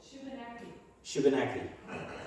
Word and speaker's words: Shubenacadie: How do you say it? Shubenacadie. Okay. Say it fast. Okay. Or just Shuby. Shuby. Sometimes people say Shuby.